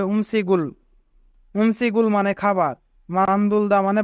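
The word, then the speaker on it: 음식을: যদি বাচ্চিমের পরে ইয়ং থাকে তবে ইয়ং এর স্থানে বাচ্চিমটি যায়, তাই এখানে গিয়ক বাচ্চিমটি ইয়ং এর স্থানে যাবে এবং উচ্চারণ হবে উমসিগুল।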